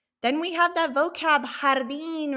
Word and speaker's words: jardín: Then we have that vocab, jardín. Remember, we have the H sound with the J.